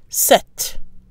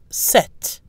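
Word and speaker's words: sept: The pronunciation of the number 7 remains the same in all cases, with a silent P and a pronounced T. Set. Set.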